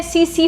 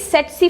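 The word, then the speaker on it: tsetse: ऐसे लिखा गया है, ऐसे बहुत लोग इसको प्रोनाउंस करते हैं सीसी फ्लाई, बट इट इज सेट्सी फ्लाई।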